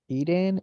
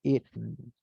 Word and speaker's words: eaten: Just remember the pronunciation of this verb. It is not eaten, it is eaten.